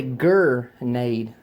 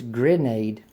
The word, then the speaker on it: grenade: a grenade grenade right now I've heard some people say Gade this I got me a grenade what's a grenade it's grenade g r e n a d e right they say